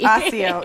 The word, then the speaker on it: Accio: not the hard C, the soft C. Asio, Jesus Christ, that is super fail.